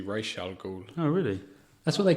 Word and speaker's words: Ra's al Ghul: I've heard that that's incorrectly pronounced in that film. Raish, is it? And it's supposed to be Ra's al Ghul.